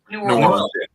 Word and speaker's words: New Orleans: You are our expert for New Orleans because I've been there once, but am I saying it right? New Orleans? New Orleans. Basically, it's just one word.